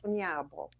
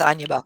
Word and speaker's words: Onyeabor: You said it right, the anglicized version, and I'll give everybody the Nigerian version. The Igbo version is Onyeabor. Onyeabor. I'll stick with Anyabo.